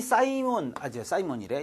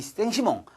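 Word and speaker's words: Saint-Simon: 이런 비판을 받기도 합니다만 이 사이몬이래 영어식 발음이고 이 생시몽 이 사람이 사회 생리학을 창시한다.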